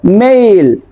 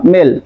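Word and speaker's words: mail: কারণ এটাকে বলবো ডেট এটাকে বলবো মেইল মেইল নট মেল মেইল তারপর এটাকে বলবো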